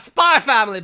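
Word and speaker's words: Spy × Family: with that talking about spy family boys also also there is an x in this title you don't pronounce x's in anime for some [ __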